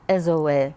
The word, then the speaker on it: Ezoe: Ezoe, yes. And Yeah. how do you pronounce that in Japan? The same way? Yes, we pronounce all the vowels separately, so it's really zo, you know.